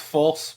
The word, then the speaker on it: Fulce: It's Fulce, yes? It's pronounced false, but I've been called far worse by many people in the political world.